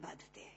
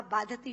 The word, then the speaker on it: बाधते: नहीं दे रहा जितना आपके मुंह से बोला हुआ बाधति शब्द कष्ट दे रहा है क्योंकि बाधते शब्द का अशुद्ध उच्चारण आपने किया है यह शब्द बाधते होना चाहिए भारत न बाधती राजन